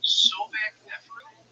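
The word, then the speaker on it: Sobekneferu: Yeah, the first female pharaoh, and it's about, correct me if I'm pronouncing this wrong, Sobek Neferu?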